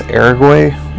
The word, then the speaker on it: Araguay: And now we're moving on to what I'm going to pronounce as I guess Araguay Woods rhyming with Paraguay.